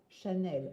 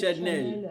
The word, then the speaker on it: Chanel: Chanel. And not Chanel. I don't even know. What Chanel.